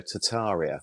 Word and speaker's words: Tartaria: It's spelt Tartaria, but they dropped the first R, so Tartaria.